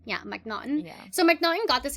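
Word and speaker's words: Macnaghten: McNaughton? Yeah, McNaughton.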